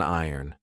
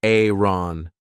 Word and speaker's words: iron: This is an iron. Be careful of the pronunciation. I did an entire video on this. This isn't Aaron. In British English, we say AN, and this is a clothes hanger.